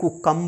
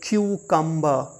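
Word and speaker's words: cucumber: हैं टूम ये देखिए सी यू सी यू एम बी ई आर यह कुकं नहीं है क्यू कंबर क्यू कंबर फिर वी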